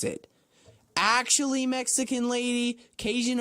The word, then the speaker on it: Cajun: Actually, Mexican lady, Cajun originated in Louisiana, and it has nothing to do with Spanish.